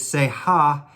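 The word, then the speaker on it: שיח: those things but it say ha is how you say that word in hebrew and it's an expression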